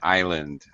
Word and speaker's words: island: Paco island not Islan do not pronounce the s in island okay island there you